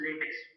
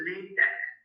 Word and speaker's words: LaTeX: can always use latex it is not pronounced as a latex usually people pronouns it has a latex it is a late Tech and once you take